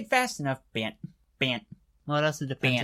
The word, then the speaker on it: Bant: Bant Eldrazi, because if you say it fast enough, Bant. Well, it also depends. Bant. It also depends on enunciation too. So Bant. This is me saying Bant. I don't pronounce my T's very harsh, so Bant.